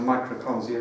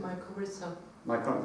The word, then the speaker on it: mycorrhiza: Connecting those tree roots are microconsia, is that how to pronounce it? Mycorrhiza. Yeah, okay.